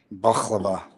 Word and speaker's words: baklava: And and you know that's his not supposedly that's not how you say it. Supposedly, I can't remember how they said it. I guess you don't pronounce the K. baklava.